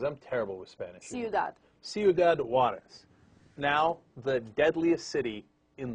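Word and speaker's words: Ciudad Juárez: How do you pronounce that? Because I'm terrible with Spanish. Ciudad. Ciudad Juarez.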